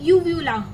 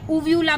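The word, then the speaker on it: uvula: इसको क्या बोलते हैं, यूव्यूला या उव्यूला भी बोलते हैं इसको।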